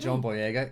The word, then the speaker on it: John Boyega: Daisy Ridley, Adam Driver, Daisy Ridley, and John Boyega. Yes, that's how you pronounce it.